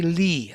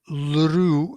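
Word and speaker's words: ऌ: Usually they say li, like ri, li in the north, or ru, lru in the Maharashtrian region.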